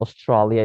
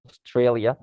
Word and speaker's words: Australia: pronounce it totally wrong like australia it's not australia it's australia uh which is the meaning is the same but the pronunciation is totally different or what you have